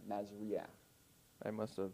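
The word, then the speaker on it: מזריע: Remember, that's a furtive pathak, so you pronounce it before the I, Masria.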